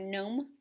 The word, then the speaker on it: gnome: have this one gn the g is silent here like in the word gnome what's the sound say